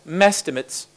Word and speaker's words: #mehestimates: I tried to use the hashtag #mehestimates, which I pronounce as mestimates, just to illustrate that